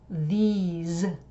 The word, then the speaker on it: these: And then the plural demonstrative is these. So it's an E sound and a Z sound instead of a S sound.